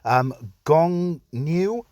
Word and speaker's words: Gongniu: Gongniu, I believe is the way you say his name.